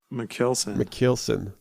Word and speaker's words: Michielsen: I always fear that I'm going to pronounce it wrong. Michielsen.